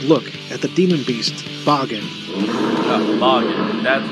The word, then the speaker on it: Bagan: taking a comprehensive look at the demon beasts bargain uh that's how to pronounced you're the mysterious ancient god